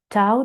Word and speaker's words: Tao: So Tao has 2 spelling and 2 pronunciation. Tao, T-A-O, or Tao, D-A-O.